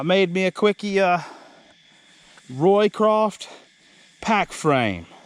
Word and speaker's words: Roycroft: me a quickie uh Roycroft pack frame Tom Roycroft r-o-y-c-r-a-f-t Roy craft it's spelled like but it's Tom Roycroft I made me a